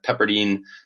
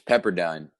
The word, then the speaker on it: Pepperdine: three Texas number five pepperine uh Pepperdine they'll get you for that one it's Pepperdine dude I had a